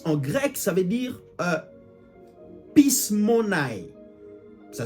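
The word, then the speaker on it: πεισμονή: Le mot influence en grec, ça veut dire pismonai. Ça s'écrit P-E-I-S-M-O-N-E.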